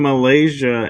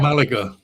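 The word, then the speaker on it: Málaga: You mentioned Malaysia, and I actually have never stepped foot in Malaysia. Oh, then pronounce it for me. I'm not sure where Malaga.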